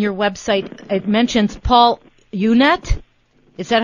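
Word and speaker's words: Unett: And also, I noticed on your website it mentions Paul Unet.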